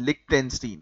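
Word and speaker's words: Liechtenstein: ना तो उसको लिकिन लिकन लिक टेन टनस्टीन लिक टेंस्टीन है ना लिक टेंस्टीन जो है वो कहा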